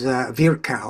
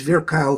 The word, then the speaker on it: Virchow: Jabr, which is Rudolf Virchow, who was Virchow, I guess is how it's pronounced, considered the father of social medicine, who